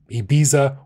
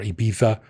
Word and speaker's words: Ibiza: And I think if you're in like Daytona Beach, or if you're like in Ibiza or Ibiza, to say it correctly, I think that's probably what most people do.